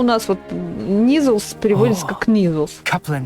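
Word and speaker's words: Kneazle: Читается как Низл. Это как, то же самое, как knife и knife.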